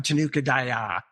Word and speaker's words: Tanuka Daya: It's not a comment, but is that I emphasize the last syllable, so they become Tanuka Daya.